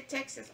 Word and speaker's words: Texas: tejas y me dice no se dice tejas se dice texas ok en texas vivo